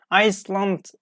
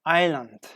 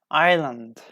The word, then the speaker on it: island: as diverse for example we don't say Iceland ok I slumped no island island if you see I as an L together like we pronounced like Isle Isle Island Isle ok in the spelling